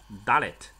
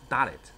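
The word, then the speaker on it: דלת: 来是一个字母叫做 Dalet 怎么写呢？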